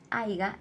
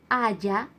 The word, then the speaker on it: haya: Esta palabra en negrita, haiga, es la que está mal escrita o mal pronunciada, ya que deberíamos decir, ojalá no haya clases.